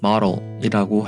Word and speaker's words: model: 가장 쉬운 예를 들면 모델이라는 단어를 한국 발음으로는 모델이라고 하죠. 하지만 외국에서는 이 발음을 model이라고 해요.